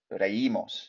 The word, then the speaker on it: reímos: So remember the accent, reímos, really pronounce that, all right?